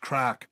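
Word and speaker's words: craic: sleeve but it's the obvious one it's crack crack and that means what does that mean a good spirit a good feeling great amusement and how do you spell entertainment is c-o-a-i-c crack it's pronounced crack and i think i have already said in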